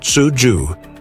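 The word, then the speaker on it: cuju: During the Han Dynasty, 206 BCE, 220 CE, Chinese troops played a game called Kuju, pronounced Tsuju, that bears remarkable similarities to modern football.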